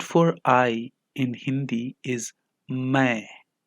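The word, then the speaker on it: मैं: I in Hindi is my my the last n is only pronounced half and none of the letters are stressed it is like how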